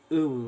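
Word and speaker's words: Uyuu: Of course, let's go to Ouya restaurant now to discuss my restaurant. I had to correct him. He said it wrong. It's clearly said like Oo restaurant.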